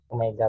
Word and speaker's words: omega: Bukan W. Apa bacanya? Omega, Pak.